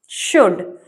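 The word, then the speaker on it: should: शुड। यू एल डी एल का साउंड नहीं आएगा। ये साइलेंट है।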